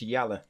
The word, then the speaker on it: Yala: up oh yala sorry I saying the name wrong I said Jala it's yala right where is yala oh